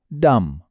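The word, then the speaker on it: dumb: आप बस गौर से सुनिएगा कि इनमें बी की आवाज है या नहीं। कॉम थंब डम डेट डाउट। सुना आपने? बी की आवाज कहीं भी नहीं है। बिल्कुल गायब।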